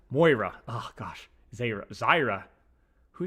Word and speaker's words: Moira: Why do you say Moria? Moira.